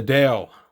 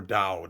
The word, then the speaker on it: dao: it's it's really nice the dale or dao depending on how you say it these are the earth